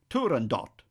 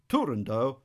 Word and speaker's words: Turandot: Because the word's Persian, and in Persian the final T would be sounded, some people opt for Turandot. But since Puccini himself called the work Turandot, I'll opt for that pronunciation.